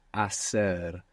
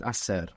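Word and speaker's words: hacer: in Spanish is AER and it has a silent h it's h a c e r so in most of Spain actually that would sound a but AER in most of the Spanish speaking world what verb type is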